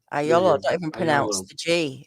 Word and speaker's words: Agliolo: um sicilian obviously yeah agliolo ayola and the y and the i is pronounced like a y right so uh you